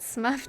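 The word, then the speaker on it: Smough: Quack wants us to pronounce it Smuff to differentiate.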